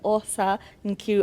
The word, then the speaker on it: Osa Nkiru: and now we have the beautiful the talented aa Niru. Am I pronouncing that correctly?